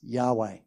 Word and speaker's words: Yahweh: who I am in Hebrew that name is pronounced Yahweh it's all a bit of a mystery right